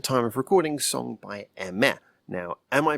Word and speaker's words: Aimer: had told me but the actual pronunciation of her name is so weirdly different from how it's spelt that it had never